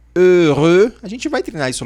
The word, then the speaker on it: heureux: Então, faça atenção na pronúncia, que é heureux.